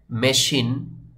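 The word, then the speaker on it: machine: মত উচ্চারণ হয় যেভাবে করে এখানে এসেছে এখানে মেশিন এই ওয়ার্ড বা শব্দটির উচ্চারণ হবে মেশিন এই শব্দ শব্দটি কিন্তু আপনি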